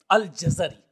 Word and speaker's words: الجزری: ہیں الجزری بفتحتین، فرماتے ہیں کہ جزر یعنی جیم اور زا دونوں کے اوپر فتح آئے گا۔ اب اس حوالے سے امام سمعانی اور امام جلال الدین سیوطی رحمہ اللہ نے اس کا یہی تلفظ بتایا ہے الجزری۔ اب یہ دیکھتے ہیں